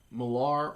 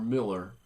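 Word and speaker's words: Millar: have to mention this Mark malar or Miller I've heard it pronounced both ways and he's the writer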